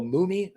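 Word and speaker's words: Mumy: Bronson, Bill uh, Bill Mumie, I think Mumi, I think is how you say his name, from Lost in Space, uh, Verh Veronica Cartwright, Ron Howard, Ted Knight, and more.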